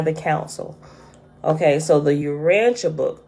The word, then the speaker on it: Urantia: But some things it seemed more to go into like the Jesus Christy stuff and it's pronounced the Urantia, right?